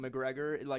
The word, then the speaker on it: McGregor: He goes to prison, and then his boyfriend Ewan McGregor loves him so much he also goes to jail.